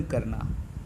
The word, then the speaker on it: quay: म्यूज्ड माने गहराई से चिंतन करना। कॉमन प्लेस का मतलब ऑर्डिनरी, साधारण स्थान। इम्पल्स माने अचानक उठी हुई इच्छा। की मतलब QUAY का प्रोनाउंसिएशन की है, जहाजी घाट जिसको कहते हैं।